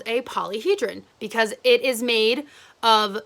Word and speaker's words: polyhedron: a fancy word but how you pronounce that is polyhedron and all it is